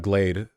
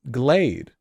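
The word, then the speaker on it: GLAAD: looked on Wikipedia and it said Glade is it is it glad because glad makes more sense to me but I saw it on TW sorry on Wikipedia and the pronunciation thing had the AE AE it's just glad Glade Glade glty anyway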